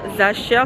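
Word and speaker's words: Sacher: Zacher, ça s'écrit S-A-C-H-E-R.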